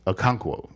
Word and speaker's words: Okonkwo: Okonkwo, yes.